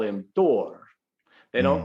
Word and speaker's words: Thor: way, a hypothetical language, Proto-Germanic follows the more Germanic pronunciation of the TH, which is halfway between a T and a D, which is why the Germans don't call him Thor, they call him Thor.